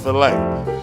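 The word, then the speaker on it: filé: It's filet. But I mean, I pronounced it foul for a long time too, so I can educate it, you know what I'm saying?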